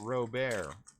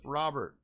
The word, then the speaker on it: Robert: my mind would you well we saw the official thing and it said Robert when he pronounced it he said in in the english-language version it would be Robert so it would be Louis Robert so I keep trying